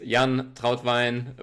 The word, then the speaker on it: Jan Trautwein: Yeah, the German way is Jan Trautwein, but like I just mentioned to you before we started recording, I'm happy with all variations.